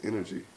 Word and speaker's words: InrG: And of course, it's still pronounced InrG, N-E-R-G-Y.